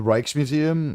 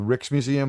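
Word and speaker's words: Rijksmuseum: R I J K Ts, but it's like the their J is like an H and their I is like an E.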